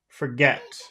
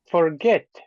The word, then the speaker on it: forget: couldn't the first okay how about forget forget forget I think the the last syllable that's right second Alex if how